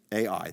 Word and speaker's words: Ai: It's literally just Ai. That's how it's spelled.